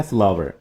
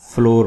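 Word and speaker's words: flour: जैम मुरब्बा फ्लावर ये word है फ्लावर। इसको हम अब तक फ्लोर पढ़ते आए हैं। ठीक है? यह है फ्लावर। फ्लावर जैसे फूल वाला फ्लावर होता है। इसकी प्रोनाउंसिएशन वैसे ही है।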